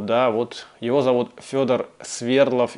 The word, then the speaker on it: Свердлов: Нашего парня зовут Федор Свердлов. И в данном случае я ставлю ударение на первый слог, только потому, что так произносят в этом фильме.